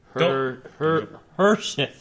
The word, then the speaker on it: Harshith: Harshith is how you pronounce my name.